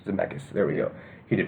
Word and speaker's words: Zemeckis: I mean, the director, and corrected me, MacLean, you might know on the pronunciation of his last name. Robert Zemeckis. Zemeckis.